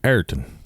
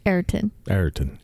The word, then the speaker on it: Everton: How do the locals say Everton? Locals call it Ayrton. Ayrton.